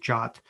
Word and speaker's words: JWT: has pointed out that jwt or sometimes pronounced jot is my go-to for api